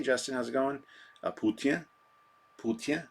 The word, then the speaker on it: poutine: Poutine. That's how you say it. That's how the French say it. The poutine. I say poutine, but the correct way to say it is poutine.